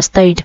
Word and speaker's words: stayed: cho nên chúng ta thêm ed đọc là stayed. Phiên âm ed này sẽ đọc là âm d nha các bạn.